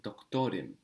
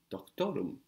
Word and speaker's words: doktorum: I am a doctor, you won't say doktorim, but doktorum. Now this im and this they are the same. One is spelled I am, one is spelled um, but they both mean I am or I'm. Just this u is closer to the o sound that doctor ends in and flows off easier.